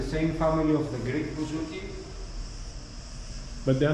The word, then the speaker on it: bouzouki: And this is the bouzouki. And then more bends. How do you pronounce bouzouki? Bouzouki, yes.